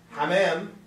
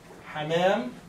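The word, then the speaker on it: حَمام: wild bathroom حمام لكن حمام is a little different هو متقارب في النطق very close to the pronunciation ولكن طبعا حمام is the bath حمام is الطائر نفسه أو الأكل.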